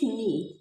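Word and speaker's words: knee: fail to ही ह नी यहां पे जब कभी भी के एन साथ में आए तो के साइलेंट होता है तो दीपक फेल टू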